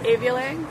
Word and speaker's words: Avialae: I pronounce it Avialae. Avialae. However, it's a Latin word, and it's impossible to find a correct pronunciation for it, so anything goes.